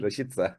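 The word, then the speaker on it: Rashica: konuya girdin geçen programda sürekli rasika demişin fark yayın yayının tekrarını dinlerken söyledim ama rashida diye okunuyor diye hatırlıyorum yani doğrusu rashit ok rashit sa'yı Biz niye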